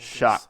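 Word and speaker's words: Shough: I think Shuck. is how it's pronounced. Shuck. That's what I always thought it kind of sounded like a CK at the end.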